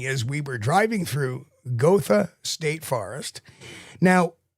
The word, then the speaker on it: Gotha: And his sighting is we were driving through Gotha State Forest. Now, I don't know if they pronounce that Gotha in Florida, but the German pronunciation is Gotha.